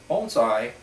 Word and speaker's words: bonsai: to you today about bonai it's a a Horticultural art that came from the Far East bonai pronounced bone as in the bone in your arm and sigh as in a nice deep sigh originally started in China